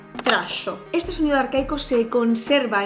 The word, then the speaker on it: trajo: Sí, palabras como esta o esta no se pronunciaban dijo o trajo, sino que se pronunciaban dicho, tracho.